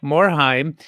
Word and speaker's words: Morhaime: game industry, the legendary Mike Moheim. Mike, did I pronounce your name right? That's not a hard one to pronounce, I don't think. Right. No, you got it right perfectly.